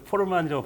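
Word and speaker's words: Forman: 포르만 타임이라고 해가지고 포만 아니죠. 포르만이라고 발음해야 될 것 같은 네.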